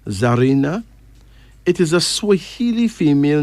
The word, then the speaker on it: Zarina: beautiful Zarina Zarina z a r i n pronounce Zarina it is a SW female name meaning golden